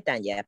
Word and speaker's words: Tanya: Mi nombre se escribe Tanya, pero poder decirme Tania, no hay Ah, problema.